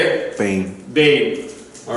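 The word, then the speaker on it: בין: Bane. Say it. Bane.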